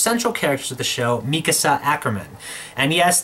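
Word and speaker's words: Mikasa Ackerman: characters of the show, Mikasa Acriman. And yes, that is the official Japanese pronunciation of the name.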